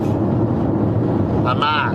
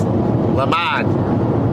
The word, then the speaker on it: Lamar: Lamar. That's how you say it if you're from Massachusetts. Lamar. Almost like llama.